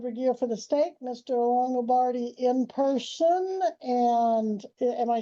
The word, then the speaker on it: Longobardi: Longobardi in person, and am I saying it right? Is it Longobardi?